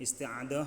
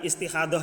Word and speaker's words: Isti'adah: Isti'adah bacanya. Tapi bukan istihadoh ya, beda lagi nanti. Kalau istihadoh berbeda lagi. Isti'adah.